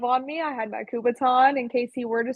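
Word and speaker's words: kubotan: It's called a kubaton.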